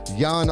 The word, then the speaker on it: Jan: are here with apex's yawn almost see what's up y'all what's up hey rob spelled like jan but it is yawning pronounced like you're about to fall asleep you know what it